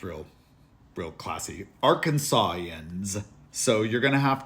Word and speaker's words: Arkansan: up Arkansas in yeah sounds real real classy Arkansas yans so you're going to have to get out